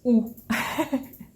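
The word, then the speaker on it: houx: In French it's ooh. I know it's very simple, but it's written H-O-U-X. So yeah, it's not the same.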